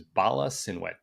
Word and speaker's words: Bala Cynwyd: I might be pronouncing this wrong. Cynwyd. I'm pretty sure it's Bala Cynwyd.